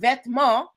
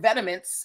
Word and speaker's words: vêtement: This word vêtement, or vetements, as Americans like to pronounce it, means clothing in French.